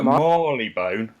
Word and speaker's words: Marylebone: It's either Marleybone, like Yeah. Bob Marley, or Marylebone, Marylebone. which is what the woman said on the announcement. Yeah, she says I Marylebone.